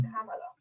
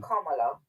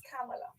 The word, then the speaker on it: Kamala: Her name is Kamala. It's Kamala Devi Harris. It's not Kamala or Kamala. Right. It's Kamala.